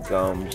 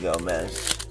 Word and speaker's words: Gomes: I think they pronounce it Gomes instead of Gomez. It looks like Gomez to me.